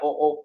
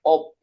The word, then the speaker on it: OOP: Ingat ya, cara bacanya OOP bukan OP. Bukan OP ya, Didat ya.